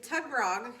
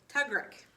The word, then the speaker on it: tugrik: Sorry, and Tugrog is actually pronounced Tugrik.